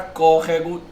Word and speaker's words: córrego: E a palavra córrego também tem aí, né, a antepenúltima sílaba.